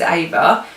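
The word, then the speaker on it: Éva: So her name is Ava, but it is spelled E-V-A and it's got a little accent on the E, just to differentiate from Eva.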